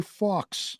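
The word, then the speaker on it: Fawkes: fox day f-a-w-k-e-s Sky Fox right but with the accent isn't it pronounced Fox well you say [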